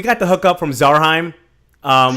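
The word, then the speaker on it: Zarhym: the hook up from zarhaim um his name is zaram oh really zaram yes he's quite particular about how you say his name no excuse me i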